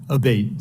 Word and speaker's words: Abate: ma'am ever uh Mr Abate and am I saying your name properly we've heard it pronounced three different ways today in the hearing aate Senator aate okay thank you um you